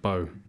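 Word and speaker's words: beau: It's pronounced Bo.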